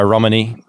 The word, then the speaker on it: Romanie: the interview that was uh fake friends by romini um a melbourne artist you know what it's